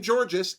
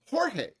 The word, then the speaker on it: Jorge: of her boy name jorge apparently it's also a dig at how people mispronounce her name as george i'm guessing seriously how do you mispronounce the name jorge huh what do you